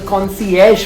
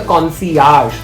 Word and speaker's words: concierge: in a hotel guys remember that you need to contact the concierge for any recommendations and not the concierge very commonly mispronounced the concierge is someone at a